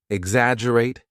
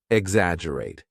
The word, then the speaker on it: exaggerate: now repeat after me exaggerate exaggerate remember there is a double g in the spelling but we do not pronounce the G strongly exaggerate excellent now what